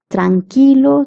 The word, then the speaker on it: tranquilo: The quui in Spanish is formed is pronounced as key. Like q is pronounced as k. Qi is pronounced as key. Tranilo.